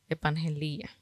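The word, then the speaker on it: ἐπαγγελία: griego evangelia ep Angela ep Angela tiene acento en la i estoy pendiente y significa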